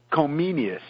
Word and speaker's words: Comenius: Comenius. Subgenius Comenius. Okay. Well, in Czech, I think they say Komensky. In German, they use the Latin name as they would call him then Comenius, not Komensky.